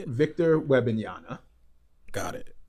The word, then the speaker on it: Wembanyama: Victor Wembanyama. Got it. Wembanyama.